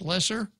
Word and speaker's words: Loesser: Loesser wrote the song ello e SS er pronounced lessor and his wife's name